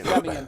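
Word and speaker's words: Semien: And I pronounce his last name every time. It's Simeon, correct? Semi. Semian.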